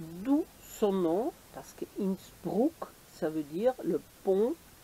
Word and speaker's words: Innsbruck: Alors aujourd'hui, je vous amène en balade à Innsbruck, ou Innsbruck, comme on dit, comme on prononce en français.